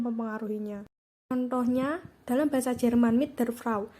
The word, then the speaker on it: mit der Frau: contohnya dalam bahasa Jerman Mit Der frau diucapkan mitter frraw bunyi D pada kata Der berubah menjadi Bunyi t sebagai akibat dari pengaruh